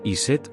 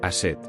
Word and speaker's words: Isis: En egipcio, se pronunciaba Iset o Aset.